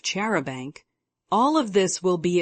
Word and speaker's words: charabanc: borrow Mister Lauren is Cherry bounce Hannah's pronunciation of chaban all of this will